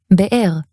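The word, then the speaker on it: בְּאֵר: This even works when you have the same vowel twice in a row. As in ra'ah or be'er. That said, in casual speech,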